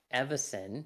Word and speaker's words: Evison: The symbol of Avicen, or Avicen, or however it's pronounced. Avicen. Evison, thank you.